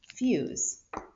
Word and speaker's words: fuse: all right use okay we have our silent e the e is going to jump over the consonant the u says its name u and what else do